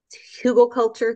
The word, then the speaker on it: Hugelkultur: using a technique called Hugel culture. There's different ways to pronounce it. It's HUGELKULTUR.